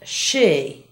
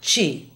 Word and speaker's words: she: And she, not chi.